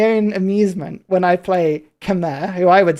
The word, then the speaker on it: Khmer: show it to you, it literally says British pronunciation. Khmer. Khmer rhymes with bear, right? And then you've got Khmer. Khmer, which is rhymes with come here. But people go, oh, it's Khmer. And it's like, no, it's not. It's Khmer. Khmer.